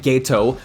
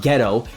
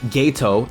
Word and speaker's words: Geto: And yes I said Geto, not geh-to, Geto, that’s how it’s pronounced.